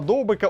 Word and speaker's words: Довбик: Каталонії переїхав Артем довбик і першим завданням Артема довбика у новому клубі було навчити іспанців правильно вимовляти його прізвище Артем довбік Артем довбик і